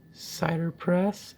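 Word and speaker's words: CiderPress: say that or it's actually meant to be pronounced cider press dis image manager kegs Apple to get apple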